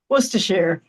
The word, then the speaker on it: Worcestershire: Um, did I pronounce the word right? Worcestershire? I don't know. It's Worcestershire.